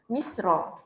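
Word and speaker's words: مسرى: Ejaan silap di situ. Misra. Mim sin ra alif maqsura, Misra.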